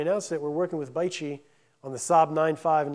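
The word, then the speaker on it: BAIC: it's the acronym is B AIC or it's pronounced bichi um bichi acquired from Saab as GM was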